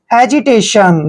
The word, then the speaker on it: hesitation: और TION का उच्चारण जहां भी चारों लेटर इकट्ठे आते हैं इसको हम शन पढ़ते हैं, ठीक है ना, टेशन। हेजिटेशन, देखिए हेजिटेशन, हेजिटेशन होती